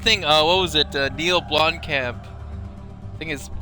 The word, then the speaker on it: Blomkamp: Neil Blomkamp. I think is how it's pronounced his name.